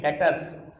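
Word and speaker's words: debtors: उसको बोलते हैं डेटर्स बाबू कोई नहीं बोलेगा डेटर्स टर्म इ डेटर्स बी वर्ड साइलेंट र ठीक है हम बोलेंगे डेटर्स हर वो कस्टमर जिसको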